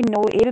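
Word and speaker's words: Noël: लिए यूज़ होता है, जैसे कि नोएल है तो हम इसे नोएल नहीं पढ़ेंगे, नोएल पढ़ेंगे।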